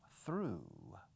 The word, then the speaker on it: threw: Pasado, threw. Fijaos en la pronunciación. Como el pasado, crecer, grow, grew. Como tornillo, screw. Como dibujé, drew.